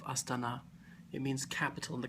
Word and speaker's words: Astana: notice that you um put this stress on the last syllable of aana it means capital in